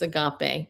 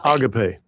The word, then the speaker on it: agape: agape agape agape. Okay, well, he says it agape. I say agape. But either way, it's it you know what it means.